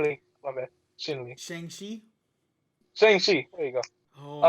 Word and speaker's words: Shang-Chi: And then like like and then we're getting Shen Li or Shin Li, my bad. Shin Li. Shang Chi.